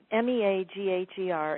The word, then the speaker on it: Meagher: Jack Meagher, M-E-A-G-H-E-R, it is pronounced Meagher, is the founder of sports massage and was a pitcher for the Boston Braves in the late 1930s and 1940.